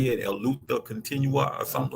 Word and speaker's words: luta continua: How you say it, El Luta Continua or something like that. Luta Continua.